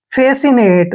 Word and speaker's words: fascinate: FA का उच्चारण हम क्या करते हैं? फे, फे, ऐसे फे करते हैं। और SCI को हमने स पढ़ना है। क्या पढ़ना है? स। जब भी आई से पहले एस और सी इकट्ठे आते हैं तो उसको हम स पढ़ते हैं। और आई का उच्चारण ई की मात्रा करते हैं। NA का उच्चारण ने करेंगे, ने। और TE को पढ़ते हैं ट।